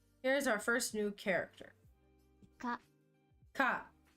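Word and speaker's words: か: Ka. Ka. It's a consonant followed by a vowel. Makes up a single syllable.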